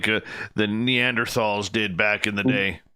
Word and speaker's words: Neanderthal: grunt much like the neanderthals did back in the day just makes it feel so much better yeah yep i still pronounce the h in neanderthal i can't stand it